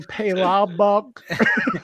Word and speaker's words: palabok: And a palabok.